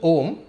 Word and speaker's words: Om: If you break up the syllable Om, you get three parts: A, U and Ma.